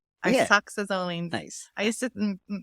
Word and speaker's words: isoxazoline: Isoxazoline. Isoxazoline. Nice. I used to say it totally different before, but I actually looked it up and okay. Isoxazoline. So think like iPod, isoxazoline. Yes.